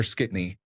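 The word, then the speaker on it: skitne: So these glasses are dirty is d glassing or skittney pronounced like shitna.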